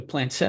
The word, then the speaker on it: planchette: The planchette, is that how we pronounce it?